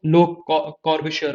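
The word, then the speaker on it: Le Corbusier: ली नहीं पढ़ना है, लो पढ़ना है, क्योंकि ये स्विस और फ्रेंच है, तो लोग लो पढ़ते हैं, मतलब प्रोनाउंसिएशन जो है वो लो कॉर्बिश्योर होता है, लो कॉर्बिश्योर।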